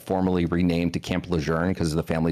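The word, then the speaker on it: Lejeune: cuz they're like, it's kind of like Camp Lune was like formerly renamed to Camp Leern cuz the family said that's the proper way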